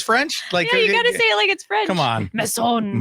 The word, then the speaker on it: Masson: No, yeah, you don't have to say it like it's French. Like, yeah, you got to say it like it's French. Come on. Masson. Masson.